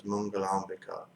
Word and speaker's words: Mangalambika: Mangalambika, Mangala and Ambika is two words, but it's pronounced as Mangalambika.